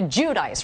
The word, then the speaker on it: Giudice: last name okay okay so we're all supposed to call you Teresa judice right not Jud Jud I mean that's the Italian way but nobody knows how